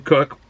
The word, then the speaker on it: Koch: by a jim cook koch is pronounced as a cook um in 1984 but